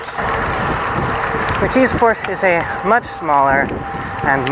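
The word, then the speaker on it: McKeesport: Phonetically, it more resembles Yugaogeni, but it's pronounced almost with a ck. McKisport is a much smaller and much less interesting little suburb.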